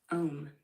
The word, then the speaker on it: Om: What can you tell me about the sacred syllable, the sacred sound known as the A, the U, the M. Om.